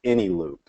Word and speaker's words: Eneloop: And over the last year, I actually came across something called, and I think it's pronounced Eneloop, and that's ENELOOP, and it's Power Pack.